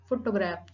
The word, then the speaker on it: photograph: For example, photograph. Primary accent on the first syllable, photograph.